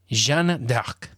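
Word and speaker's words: Jeanne d'Arc: my me furiously typing gender arc how to pronounce native french speaker oh there's a youtube video for it oh jean dark ooh i like that jean doc like dark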